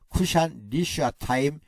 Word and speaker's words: 구산 리사다임: 사사기를 기록한 역사가는 아랍 나하라임의 구산 리사다임이 가나안 땅을 8년 동안 지배했다고 말합니다. 구산 리사다임이라는 왕의 이름을 좀 더 히브리어스럽게 읽어보면 쿠시안 리슈아타임이라고 합니다. 쿠시안 리슈아타임이라고 읽습니다.